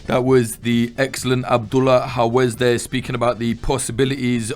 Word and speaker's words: Hawez: l a h and then howz is spelled h a w e z or Z if you're an American um thank you for